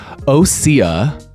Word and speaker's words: Osea: Osea.